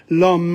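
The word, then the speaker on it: l'homme: i'm doing for example the h there is obviously obviously not pronounced otherwise would be so lon the h is not pronounced so it's all apostrophe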